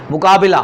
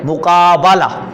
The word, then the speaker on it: مقابلہ: ہمارے یہاں زیادہ تر پڑھا جاتا ہے مقابلہ مقابلہ با کی نیچے زیر پڑی جاتی ہے، تو یہ تلفظ درست نہیں ہے. درست تلفظ یہ ہے مقابلہ.